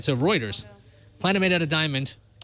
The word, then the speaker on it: Reuters: this is from Reuters, which I always pronounce routers. So I was Routers. wrong. Yeah, the routers. Routers, right? Because the routers themselves are That's how they sentient. pronounce it in UK. Right. So Reuters, planet made out of diamond.